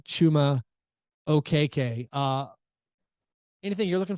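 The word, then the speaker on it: Achiuwa: bit apparently achuma okay had been saying his name wrong uh he he apparently he had family members who said Hey listen you're on TV a lot they say your name it's pronounced like this and so uh we can correct that uh chuma okay uh anything you're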